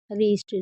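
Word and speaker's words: wrist: जैसे राइट, wrong, रीस्ट। रीस्ट में आप देख रहे हैं डब्ल्यू को कुछ नहीं पढ़ रहे हैं।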